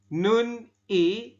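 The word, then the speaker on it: 눈이: I Wo seperti itu tetapi kita membacanya adalah Nuni ya Saya ulangi dibacanya Nuni Kenapa kok dibacanya seperti ini karena ada atau konsonan di akhir ketemu dengan vokal ya i dengan ieng maka si konsonan yang di akhir ini ya yang posisinya di akhir dia naik ke atas menggantikan ieng dan berubah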